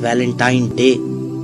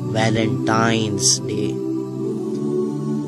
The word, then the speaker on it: वैलेंटाइंस डे: है अब आप इस वैलेंटाइन डे के नाम पर गौर करें इसे जो आम कहा जाता है यह वैलेंटाइन डे है लेकिन हकीकत में जो इस का प्रोनाउंस एशन है वह है वैलेंटाइंस डे य एक वैलेंटाइन वाला